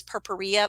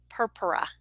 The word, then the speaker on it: purpura: the proper p perp i used to call this purporia but it's not it's per purpura that's how you say that that does not roll